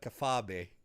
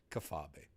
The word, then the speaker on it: kayfabe: Yes, and I forgot to call it kafabe. That's how you're supposed to pronounce kayfabe. It's kafabe.